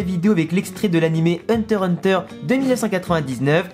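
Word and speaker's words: Hunter × Hunter: avec l'extrait de l'animé hunter hunter de 1999 on ne prononce pas le x au milieu car en réalité se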